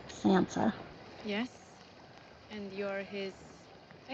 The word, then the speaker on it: Sansa: I've been saying it wrong, right? I've been calling her Senna. Sansa.